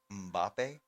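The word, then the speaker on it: Mbappé: Oh boy, Kylian Mbappe. Oh. The last name is spelled Mbappe.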